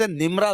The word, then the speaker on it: نمیرہ: اچھا اس کو لوگ مسجد نمرہ بھی کہتے ہیں، تو ایکچوئل لفظ نمیرہ ہے. میں بڑی جو نا کوشش کے ساتھ تلفظ دے کر آیا تھا. 2-3 کتابیں میں نے نکالی اور جناب ان سے باقاعدہ تلفظ دیکھا، اعراب دیکھے. نمیرہ لفظ ہے، ایکچوئل نمیرہ ہے. نمیرہ ہے، میم کے نیچے زیر ہے.